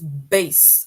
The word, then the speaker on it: bass: And if you can hear the pronunciation of the word, it says base, right? And that word base, it rhymes with case.